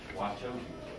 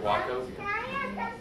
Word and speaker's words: Wachovia: When I first came over the mountains to school in North Carolina, I thought you pronounce the name of the bank Wauchope. I said and learned. And now look at Wachovia.